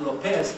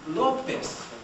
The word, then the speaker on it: López: Or saying Lopez. It's not Lopez, it's López.